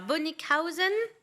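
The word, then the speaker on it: Bönickhausen: Comment on dit alors? Bonnickhausen. Bonnickhausen, ja. Ah oh. Ja. Voilà, comme ça.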